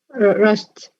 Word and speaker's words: rushed: Rushed. Again, Rushed. rushed. Ta or da? Da. Ta sound.